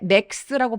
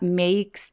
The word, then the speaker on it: makes: makes the trade 이거 발음하실 때 max라고 발음하시는 분들 진짜 많아요. max가 아니라 makes the 그래서 이라는 소리가 한 20-30% 정도 살짝 느껴질 수 있도록 해주시는 게 중요한 포인트입니다.